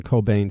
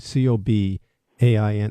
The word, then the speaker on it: Cobain: you just tuned in you're listening to ian cobain c-o-b-a-i-n am i pronouncing your last name correctly absolutely okay ian